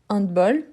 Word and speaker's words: handball: Donc, handball, c'est le handball. Donc, c'est un H aspiré.